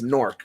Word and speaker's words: Newark: it's nor I just keep hearing people say Newark yesterday and it pissed me off it's it's norc like you talking about during the UFC event